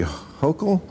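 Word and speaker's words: Hochul: Uh, what do you New Yorkers think of how Mayor Eric Adams and Governor Kathy Hokll yes. Yes, you pronounced IT RIGHT.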